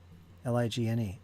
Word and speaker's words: ligne: You mean the G is silent? Okay. Now we got silent G's now? Ligne. Ligne. Ligne. Yeah, the G's pronounced totally different. There's no g or j. It's a ligne. It's like silent almost.